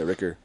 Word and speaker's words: Rueckert: I've been saying my name wrong. Yeah. Ricker.